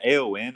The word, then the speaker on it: Aon: Is it AON or is it on? Aon. Aon? Okay, Aon. Okay. Could you touch on who Aon is generally, and then also just how is Etherisc working with Aon?